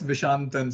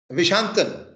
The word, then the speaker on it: Vishantan: So it's Vishantan, sir. Vishantan. Okay. That Yes, is a sir. very, yeah, emphasis is on the first syllable, Vishantan. Yes, sir.